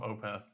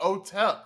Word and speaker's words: Otep: panta uh open Otep I'm GNA call him opth because that's the oh Otep that's right that's how you pronounce that uh NY uh I am seeing